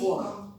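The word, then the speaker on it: Qom: Después de Tabriz fueron a Com, se pronuncia así, Cuom. Cuom.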